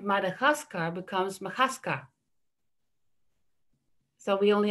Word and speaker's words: Madagascar: i want to say um like madagascar that's one of the words that my son used he was always talking about makadaska and macadascar has the same syllables as madagascar but the order is is wrong so in planning in